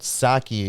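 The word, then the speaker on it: Psaki: her name yeah yeah p-s-a-k-i which i think that's greek saki that's like a word yeah it sounds it but saki is how you say it in english so uh is there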